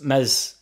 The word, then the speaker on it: Meslier: I think Adams, Mez, Silent S are going to be looking for a move.